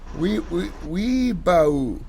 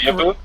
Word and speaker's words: weeaboo: Is that how you pronounce it? I'm sorry, am I doing insulting to your culture by mispronouncing your culture's name of weebo? Yeah, I'm pretty triggered. You're microaggressing against me. I'm sorry. Can you pronounce it please weeaboo?